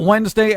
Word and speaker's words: Wednesday: I spell out Wednesday am I the only one that thinks it's weird considering how it's said it's like Wednesday it should be like W en de si we're eight or something like that Wednesday but it's wed ness day it's just some wed